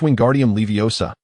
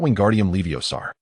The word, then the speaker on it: Wingardium Leviosa: Hermione, observing him with a disapproving shake of her head, corrected, "You said it wrong. It's Wingardium Leviosa, not Wingardium Leviosar."